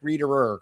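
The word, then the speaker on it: Rieder: Also the new Fed chair uh Rick Reerer. I always wonder how many syllables you put in that. Rick, not Rick Reer. Rick Reader. Correct.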